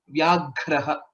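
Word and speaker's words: व्याघ्रः: So here, if you see in this, Vya is a Sanyuktaksharam. Similarly, Ghra is a Sanyuktaksharam along with the Mahaprana. Vyagraha is the right pronunciation.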